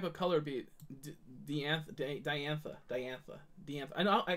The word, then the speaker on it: Diantha: boo-boos but we did good we did good diantha diantha right diantha that's how it's pronounced fire crystal fire crystals I do need